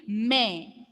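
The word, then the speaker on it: mais: Without trema, pronunciation will be may, and the meaning is but.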